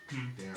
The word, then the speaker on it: Deron: It's spelled Darren. It's spelled D-E-R-O-N Okay. though. I want to say Deron too, but it's always Right. Darren.